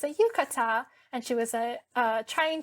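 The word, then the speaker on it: yukata: So she was asking uh what is this and how do you pronounce it and I said like oh it's a yucata and she was uh trying to uh learn from my culture as well.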